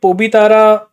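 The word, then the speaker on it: Pobitora: target और असम में यह पोबी तारा इसको कई अलग नाम से भी प्रोनाउंस करते हैं पाबी तोरा वाइल्ड लाइफ रिजर्व रांग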